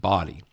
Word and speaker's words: Bodie: I think I read that that's pronounced body.